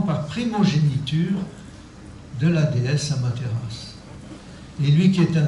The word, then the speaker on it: Amaterasu: Car il était le 73e, quelque chose comme ça, descendant de la déesse solaire Amaterasu, qui s'écrit Amaterasu, mais qui se prononce Amaterasu, qui a formé le Japon.